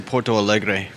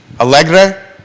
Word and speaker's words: Porto Alegre: I would say Porto Alegre. Alegre?